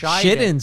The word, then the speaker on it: Shiden: We had Soto on, and he pronounced it Shiden. I know. How am I not supposed to pronounce it like the founder? You're pronouncing it correctly. I'm just saying. Shiden sounds like shit in.